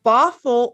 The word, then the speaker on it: Bothell: mom to john's son chris they're residents of bothell washington did i pronounce that correctly yes yay they're owners of